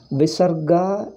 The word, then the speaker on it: visarga: let me tell you visarga is pronounced after ah if it comes it is pronounced as aha after e it comes e after o it comes oh comes after hari you pronounce as hari he not a hariha visarga is not always ha hariha you don't say